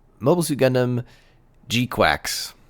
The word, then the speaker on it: GQuuuuuux: called Mobile Suit Gundam gqu it's spelled very oddly I believe it's GQ and then six U's and then an X wow that title took